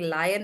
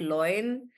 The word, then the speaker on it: lion: I love that you guys are saying lion and not loin. A lot of people do that, which is also a word. It's just not a good word. So please don't pronounce lion as loin.